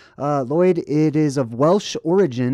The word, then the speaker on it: Lloyd: It's pronounced Lloyd.